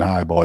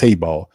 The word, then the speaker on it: Hayball: Got to pronounce it. I keep saying Highball. It's Hayball. Matt Hayball is the new punter.